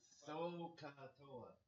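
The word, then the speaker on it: SOHCAHTOA: Don't say sa. Sa ko. No, it's sokatoa. So you might want to think of it as sokatoa in some water or something.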